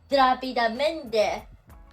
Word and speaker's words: rápidamente: So, it's rápidamente. Accent here, rápidamente. As you can see here, you can feel and hear the clear syllable is rápidamente.